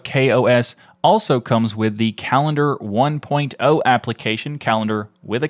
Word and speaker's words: Kalendar: For those who are not familiar with it, Kalendar is a new calendar app, but it's spelled with a K.